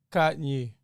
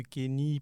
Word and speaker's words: Kanye: Ici, on dit Kanye. Kanye. Pas de Kenny, pas de Kanye. Kanye. C'est comme gagner avec un K.